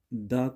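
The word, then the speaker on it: the: रखना है है ना, वहाँ पे आपको द को दी प्रोनाउंस करना है। क्यों? क्योंकि वो नाउन पे आप फोकस डालना चाह रहे हैं, उस नाउन पे आप जोर डालना चाह रहे हैं, तो उसके लिए द को दी पढ़ा जाता है।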